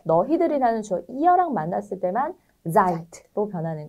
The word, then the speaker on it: seid: 이어에 맞는 네, 자인 동사는 seid. seid이죠. 드라고 쓰고 트라고 읽는다.